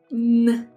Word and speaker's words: Н: It looks like H in English, but in Russian we pronounce N.